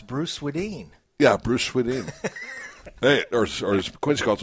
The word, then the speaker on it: Swedien: And I finally got to figure out how to pronounce Bruce Swedien. Yeah, Bruce Swedien.